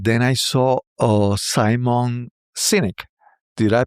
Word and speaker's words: Sinek: little late and then I saw uh Simon Sinek. Did I pronounce it right, Sinek? Yes. I think so. Simon Sinek.